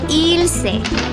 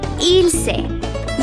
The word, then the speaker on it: Ylse: So here's how you pronounce it. Ylse. Think illegal and sexy. Ylse. You know how it's Beyonce and not Beyonce? Like that. Ylse.